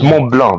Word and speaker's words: Mont Blanc: It's Mont Blanc. The C is silent.